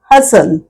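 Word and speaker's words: hustle: करायचा उच्चार करायचा कॅसल third one हसल हसल almost same like कॅसल हसल हसल उच्चार आणि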